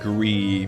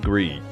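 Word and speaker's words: GRIS: but you haven't played Gree, maybe go with Gree. It's pronounced Greece. Isn't it pronounced Gree? Like the... Is that not how you pronounce gray in French? Grease. Okay, fine, it's Greece.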